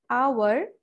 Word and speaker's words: hour: we pronounce them as our or may be honest so the sound is o sound which is vowel and that is why